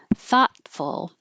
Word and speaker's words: thoughtful: Z plural thoughtful. You won't hear that T in the middle.